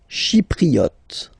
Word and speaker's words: Chypriote: Chypriote. Remember this Y is pronounced like I, okay?